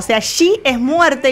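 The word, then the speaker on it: 四: Se pronuncia shi, que significa muerte.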